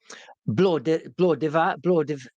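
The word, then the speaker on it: Blodeuwedd: And it's called The Feast, and it's based on an old folklore legend, and it's pronounced Blodaved, right? It's a hard word to say, and it basically means like goddess of flowers.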